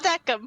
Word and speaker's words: Decim: It's pronounced Deckham.